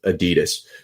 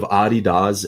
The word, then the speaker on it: Adidas: Puma and it's actually Adidas is how it's pronounced. I learned people think of as Adidas. So the founders of Adidas and Puma were brothers, and they had a company together, and then they started feuding.